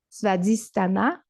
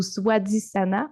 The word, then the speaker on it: Svadhisthana: Et aujourd'hui, on monte un petit peu plus haut euh, vers le deuxième centre énergétique qu'on appelle Svadhisthana ou Swadhisthana. En fait, c'est un SW, mais j'ai entendu les deux prononciations.